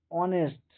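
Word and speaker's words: honest: এক্ষেত্রেও এইচটা হ এর মত উচ্চারণ হচ্ছে। কিন্তু অনেস্ট অনেস্টটা এইসটা খানিকটা ও এর মত উচ্চারণ হচ্ছে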